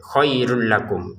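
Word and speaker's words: خَيْرٌ لَكُمْ: Jadi khairun kita bacanya khairul. Nah, karena di sini ada lam, tanwinnya masukin ke lam dengan tanpa dengungan, khairul lakum.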